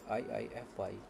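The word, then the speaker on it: IIFE: An immediately invoked function known as IF and pronounced as I fy is a function that runs as soon as as it is defined.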